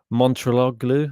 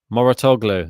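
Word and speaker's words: Mouratoglou: You got Pat Montrologlu. Oh, I always get his name wrong. Moratoglu. That's it.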